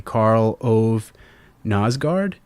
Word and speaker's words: Karl Ove Knausgård: were inspired by Anne Carson and hopefully I'm pronouncing this dude's name correctly karl ove knausgård yeah that's about right could you talk about